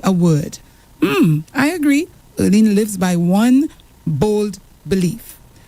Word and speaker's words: Earleen: I get it right, Earleen? Yes. Okay, yes. I don't know why I said the wrong thing a while ago, but Earleen, yes, I've been saying it right all week, and then